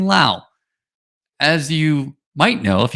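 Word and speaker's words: Lowe: saying the right thing not saying low but saying Lao as you might know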